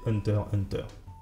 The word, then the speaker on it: Hunter x Hunter: la première comment prononcer hunters hunter bon alors là je viens de le prononcer comme il le faut normalement on ne prononce pas le x mais c'est pas hyper